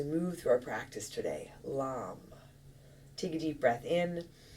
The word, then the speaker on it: LAM: And the Bija Mantra, the single syllable mantra for your root chakra is LAM, L-A-M.